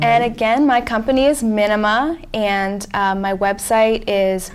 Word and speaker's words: Minima: n i m a it's like minimalist without the word list mhm and then I